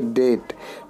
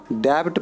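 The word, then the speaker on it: debt: पहले भी आया है इसको करेंगे डेट डेबिट पढेंगे तो गलत हो जाएगा डेट रिन्यूड नो यू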